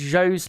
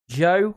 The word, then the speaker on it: Zhou: Is Zhou's name now pronounced Joe? No, it's Zhou. Yeah, that's how it's pronounced. Thankfully, nobody out there is doing the Paul di Resta pronunciation of Zoo, which was comically bad, I've got to say.